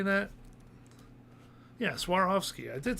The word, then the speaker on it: Swarovski: or SWAT how do you say that yes Swarovski I did say it right um put all